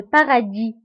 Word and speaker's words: paradis: الجنة بالفرنسية هي le paradis. Le paradis. Le paradis. وتكتب اس في آخر الكلمة ولكن لا ننطقها. Donc le paradis.